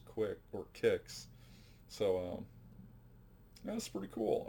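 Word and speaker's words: Qix: tempest kicks q i x but apparently it's pronounced quick or kicks so um that's pretty cool omega race donkey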